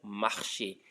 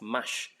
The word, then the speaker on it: marché: Okay, so je marche au marché. So when it had no accent, you can see that the E was not pronounced. It was just mash. But when it has accent, it became what? Marché.